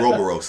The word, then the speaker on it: Ouroboros: The Godzilla Ouroboros, or for those who say it pronouncedly, Ouroboros. Oh, yeah, that's how I pronounce it. Ouroboros.